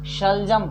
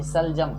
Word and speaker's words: शलजम: बोलिए शेर, शंकर, शोर, शोभा, शलजम ना कि सलजम, शलजम, शोरगुल।